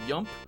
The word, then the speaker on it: yump: that is technically a called a yump it's a messed up pronunciation of the word jump you know jump yump um but uh the